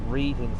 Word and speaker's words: Reading: They looked up to know what station they were at, and they're at Reading Station.